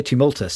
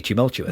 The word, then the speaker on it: tumultuous: I say did I say tumultous tumultous which is well I was wrong then so clearly it should be tumultuous well I wouldn't be